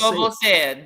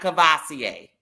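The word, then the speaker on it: Courvoisier: Kosa. That's the correct way to say it. Not kavasier.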